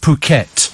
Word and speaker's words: Phuket: Apparently it's pronounced Phuket.